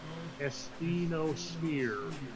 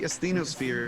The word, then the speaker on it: asthenosphere: Okay, and it's spelled Sometimes it's spelled A-E, but it's usually spelled A-S-T-H-E-N-O, asthenosphere.